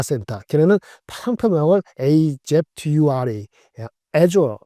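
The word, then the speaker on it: Azure: 근데 클라우드 데이터 센터 걔네는 상품을 AF Dura 에조 발음 하는데 에조의 성장률이 무려 35%가 됐어요.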